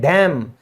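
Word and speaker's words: damn: लानत भेजते हैं ना किसी पर, भाई तुझ पे लानत है, तो उसको कहते हैं डैम, यहां पे भी क्या है, एन साइलेंट है।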